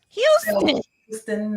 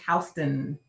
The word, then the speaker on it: Houston: Houston, no ma'am. It's Houston.